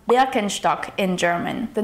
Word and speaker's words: Birkenstock: So the correct pronunciation of Birkenstock is Birkenstock. The Bier is pronounced with a short I sound, like in the word for bird. Then it's Ken with a short E sound and Stock with an SCH sound combined with a T.